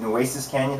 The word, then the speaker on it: Nueces Canyon: by a touchdown to, is it Nueces Canyon? Is that how you pronounce it?